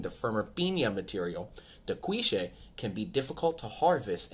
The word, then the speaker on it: Cuishe: they might pronounce it differently than what we're pronouncing it today. However, that's what we're going with, Cuishe. All right, I've heard Cuishe, Cuishe, Cuishe. A whole bunch of different pronunciations, but we are going with Cuishe, all right?